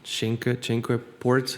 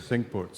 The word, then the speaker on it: Cinque Ports: My dad and I played, and I'm gonna butcher the pronunciation. Royal, is it Cinque Ports? Cinque Ports. Cinque Ports.